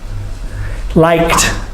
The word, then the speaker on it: liked: Liked. I guess I liked, there's the T sound of the ED.